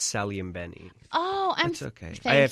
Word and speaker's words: Saglimbeni: correct you on the pronunciation of my last name it's s and Benny oh I'm okay I